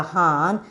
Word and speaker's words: horn: Here the R is get silence, but we want to when you are pronouncing, when you are telling the spelling, you want to tell the R spelling, but when you are pronouncing, you should silence the R.